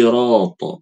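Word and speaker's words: صراط: Salah itu salah ya harusnya sh si si sirat bacanya harusnya gitu ya Bu Ari lanjut Naam.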